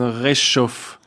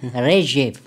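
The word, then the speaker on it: Ржев: Sie, wenn ich richtig informiert bin, Sie waren in dieser Schlacht von Reschow. Nein, Reschiv. Reschow, so spricht man das Reschow.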